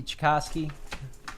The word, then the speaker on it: Tchaikovsky: Yeah, Dick, it's Tchaikovsky. Last name pronounced similar to the Russian composer. Okay, Tchaikovsky.